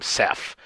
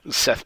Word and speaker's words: Seth: game uh and um so my coach always pronounced my game ceph my name seth as he as s-e-p-h and he had and